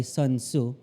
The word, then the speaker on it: Sun Tzu: art of war by sun tzu that's how you say it sun tzu has been